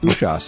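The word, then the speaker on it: Usas: of the treasure of ushas that's right it's pronounced ushas according to uh banjo guyali because i asked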